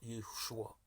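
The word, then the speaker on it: ישוע: Jésus en hébreu se prononce Yeshua, le Sauveur.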